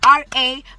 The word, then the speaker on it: Rabotapi: Please follow me on Instagram, Star_Rabotapi or Rabotapi, how they say it as black people. I wish I was white. Rabotapi. Don't forget Star_Rabotapi, Rabotapi.